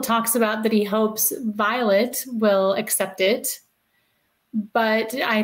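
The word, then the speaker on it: Vilate: a letter from and her name is actually pronounced Violet Kimble that's an old it's an old spelling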